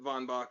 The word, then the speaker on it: Von Bach: out in that question did i pronounce correct that is correct some people love to be particularly prussian but von bach is is uh what people say excellent excellent so for